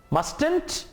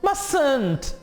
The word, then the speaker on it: mustn't: हाँ, प्रोनाउंस करें, mustn't, no, mustn't, exactly, mustn't. अब यहां पे सेकेंड लास्ट टी साइलेंट है, mustn't, mustn't.